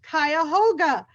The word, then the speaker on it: Cuyahoga: He will be speaking about his book, and the title of the book is pronounced Cuyahoga, as in the Cuyahoga River.